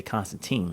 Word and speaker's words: Constantine: introduces it was Joanna, Joanna Constantine. as they pronounce it. I always say Constantine.